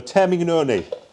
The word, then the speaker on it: Termignoni: So Termignoni. That's the correct pronunciation.